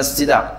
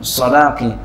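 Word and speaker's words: الصَّدَاق: Fa idzan fiha bara'atun lahu min as-sadaqi, boleh juga sidak bacanya sadaqi, wa lam ta'khudz minha syai'an.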